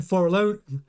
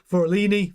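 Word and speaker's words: Fornaroli: Verstappen, then Forlone. I'm always going to say his name wrong. Forloni, for McLaren.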